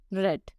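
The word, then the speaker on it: read: The third form of रीड इज रेड. इसे ऐसे लिखा जाता है रीड की तरह, बट इसे प्रोनाउंस रेड ही करा जाता है.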